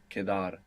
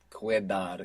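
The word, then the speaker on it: quedar: be left over q-u-e-d-a-r kedar and q-u in Spanish is always a k sound you must resist any temptation to pronounce cuedar if you were to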